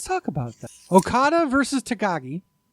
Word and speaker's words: Takagi: about that okada versus takagi that's how you say it i've been bullshitting his name for a week really i've been like